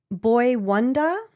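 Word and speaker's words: Boi-1da: It says um all star producer Boy Boy Wanda. Oh I see Boy Wanda but the way it's spelled is b o i and then w o n d a.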